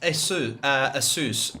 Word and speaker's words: Asus: It's pronounced Asus because it actually comes from the word Pegasus.